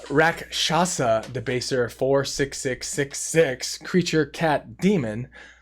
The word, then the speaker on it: Rakshasa: Rakshana. And it's 6 mana. Let me say it right. Rakshasa, Debaser, 4/6/6/6 creature cat demon.